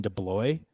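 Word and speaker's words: DeBlois: was directed also by Dean deblo I think is how you say his name and he is the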